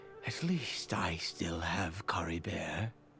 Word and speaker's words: Caribert: least I still have Cory bear so Kara Bear as they pronounce it that's good to know